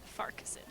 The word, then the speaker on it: Farquharson: They try to pronounce the Q-U-H all separately, but it's Farquharson.